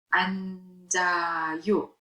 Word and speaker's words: 앉아요: 앉다, 앉아요. 넓다, 넓어요. 맛있다, 맛있어요. One more time. 좋아요. Here is silent. 많아요. 앉아요. 지읒. The 지읒 sound is carried over. It's pronounced 앉아요.